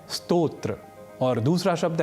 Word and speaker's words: स्तोत्र: ही अर्थों को जानेंगे उस समय स्तोत्र का उच्चारण स्रोत नहीं करेंगे और स्रोत का उच्चारण स्तोत्र या नहीं करेंगे इसी प्रकार एक और